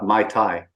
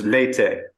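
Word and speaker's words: Meitei: cookies owe me but my attempt earlier on before I got the pronunciation down I kept saying uh My Thai which is a drink not the not the community it's Mayte I roam is from the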